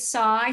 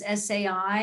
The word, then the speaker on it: SAI: still be calling us Sai and and a year ago we made the transition to Psy which is actually the way in which it's pronounced in in Europe so it's cut down